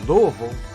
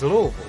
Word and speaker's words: Louisville: on down to ups's main hub and uh louisville or uh captain geo would say uh what